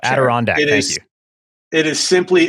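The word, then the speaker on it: Adirondack: Is this a canvas a Dyondac or something? Is that Did I say I probably botched that. Um, more on pronunciation in a moment.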